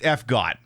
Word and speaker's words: FGOT: But yeah, it's pronounced FGOT. Frenetic because it's frenetic operations, it's gambit operations because you're trying to figure out if you can live and stuff. So it's FGOT.